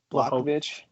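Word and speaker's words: Błachowicz: Blachowicz. Blachowicz. Yeah, I butchered that.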